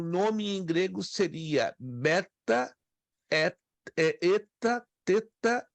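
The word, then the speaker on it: ἦτα: mas ela se pronuncia eta é um e longo como em café Eta alguns dizem Eta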